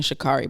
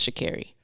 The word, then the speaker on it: Sha'Carri: last episode i apologize i was saying shikari but it's shakiri so shakiri richardson